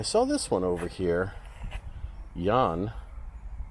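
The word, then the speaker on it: Jähn: this one over here Yan or really pronounce it Yan but I don't see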